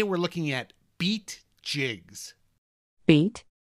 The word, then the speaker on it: BEET: looking at beat jigs beat like in Tim Tackle Box beat nope beat is spelled be t and it stands for big eye easy tie they're not talking about